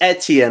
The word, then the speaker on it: Etienne: Is it Et I think it's Etienne. I believe it's I think the word antenna. You remove the A and you put ETN.